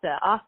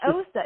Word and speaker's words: Osta: name and I'm like it's aa aa like pasta I can't someone says AA and I'm just like it's not osta it's AA like AA like pasta AA like